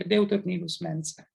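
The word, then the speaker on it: Deuteronilus Mensae: the area called the deuternillus mensa this is the latin pronunciation and is one of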